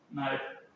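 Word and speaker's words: knife: तो ये साउंड का भी, ये क्या होता है, चाकू, नाइफ, तो इसमें के साइलेंट रहता है।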